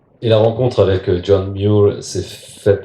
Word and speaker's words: Muir: Je sais que ça se prononce Muir. Je sais que lui-même devait dire Muir avec son accent écossais.